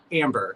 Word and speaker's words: Ambre: So many people get confused with that, but it is pronounced Amber, to make this very clear once and for all.